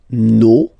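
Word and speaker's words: nos: Okay, and then for the plural, no, vos, and then leur. Okay, so remember, even if you've got this final s, you don't pronounce it, as it was the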